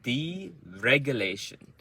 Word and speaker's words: deregulate: Deregulate. So it's the same as deregulation. So deregulate. So D is soft. Deregulate. So reg is the loudest, and it's one beat.